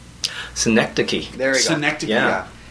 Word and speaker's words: Synecdoche: I can't pronounce it. Syndicate New York. I think it's called. Synecdoche.